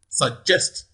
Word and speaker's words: suggest: listen okay question 45 suggest suggest can you tell me where the primary stress falls now from the way from my pronunciation so chest clearly it is on the second syllable on the second syllable